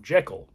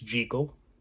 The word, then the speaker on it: Jekyll: you know everybody pretty much called calls him Jekyll because you know when you look at that name that's what it is what it looks like it's pronounced but you know it's jekal Henry jekal in this film and so you know he's